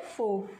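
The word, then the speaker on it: fork: काटा को हम इंग्लिश में क्या बोलते हैं, फोक। काटा को हम इंग्लिश में क्या बोलते हैं, फोक। इसमें जो आर है वो क्या है, साइलेंट है।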